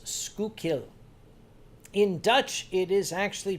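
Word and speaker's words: Schuylkill: that came up there it's pronounced skukil at least in Philadelphia they refer to that word the river the expressway as skukil in Dutch it is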